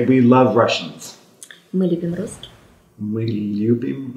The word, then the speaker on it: русских: Мы любим русских. Мы любим русские.